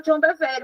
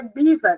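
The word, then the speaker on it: John Bevere: Eu falava John Bever, mas ele não fala, ele fala, eu acho que é Bívar que ele fala, é alguma coisa assim.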